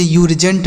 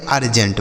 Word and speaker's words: urgent: URGENT इसे यूर्जेंट नहीं पढ़ेंगे, अर्जेंट पढ़ेंगे, क्या पढ़ेंगे, अर्जेंट, समझ आया।